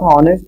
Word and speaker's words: honest: honest it is not honest it is honest so honest is H is again silent so before the harness